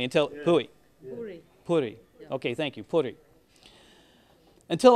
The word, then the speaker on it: Puri: now one of my favorites happens to be puy if I'm pronouncing it correctly until pu Puri Puri okay thank you Puri until I found out